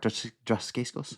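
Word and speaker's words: Dacascos: Mark Duskos. D Mark Dascos.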